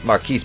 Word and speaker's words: Marquis: Marquise, pronounced Marcus because he's a fucking retard, but we'll just call